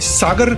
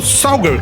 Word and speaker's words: सागर: या कुछ और बल्कि अंग्रेज सागर शुद्ध भाषा में बोल नहीं पाते थे। उनकी स्पेलिंग और उच्चारण इस तरह से थे कि वो सागर को सौगढ़ कहते थे।